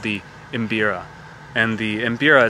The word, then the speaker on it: mbira: from this instrument called the imbira and the embira it's spelled m b i r a if you